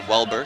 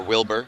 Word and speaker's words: Welber: Well, people don't like to, it's spelled out W-E-L-B-E-R, so it's like well and burr. A lot of times you go to the doctor's office, it's Weber or Wilbur.